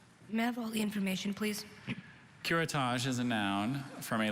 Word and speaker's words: curettage: her skin lesion curettage could you repeat the pronunciations please curettage is just the one curettage did you read